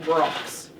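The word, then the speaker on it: Brach's: sure that I say they're pronounced Brocks Brocks not rocks I uh I think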